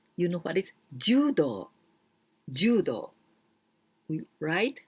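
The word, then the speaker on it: 柔: Well, this ju, here we pronounce ju, but we can also pronounce yawarakai.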